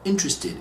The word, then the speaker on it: interested: talked about this one interested is in three syllables not for opinion gradually